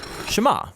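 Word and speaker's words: שְׁמַע: is hear or listen which in hebrew is pronounced shema that's where the prayer gets its name now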